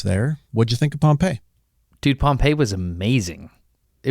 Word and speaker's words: Pompeii: That's the town. The town is Pompeii. The general, Gnaeus Magnus Pompey, is Pompey.